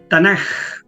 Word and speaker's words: Tanaj: que pasa es que la jota en griego Debería ser K ya se pronuncia tanaj y se escribe tanak Okay pero la tanax